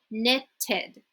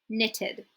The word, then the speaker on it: knitted: make it past tense we will say knitted okay knitted you see I'm pronouncing the Ed here we also have to flood